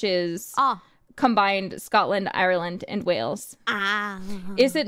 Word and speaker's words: Wales: Yeah, the 69% is the Celtic origin, which is combined Scotland, Ireland, and Wales.